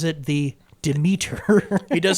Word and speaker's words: Demeter: The last voyage of the Demeter. Demeter. I'm excited for that. That's coming out soon, isn't it? So it's not the Demeter. It's the Demeter. It's not Demeter. Well, it's the British pronunciation of it.